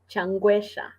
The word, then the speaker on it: Changwesha: pronounce your last name changuesha oh okay yeah you were close enough okay yeah so the e is a short e not uh so okay